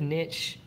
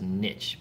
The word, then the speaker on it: niche: But I think you can pronounce that either way, niche or niche. But I always thought it was niche, and I heard people pronouncing it niche, and I was like, they're not pronouncing it right. And then I Googled it, and you can do it either way.